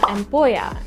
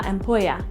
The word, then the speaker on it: ampolla: So again, it's la ampolla, and that's spelled with a double L, which is pronounced with a sounding like a Y in English. So once again, la ampolla.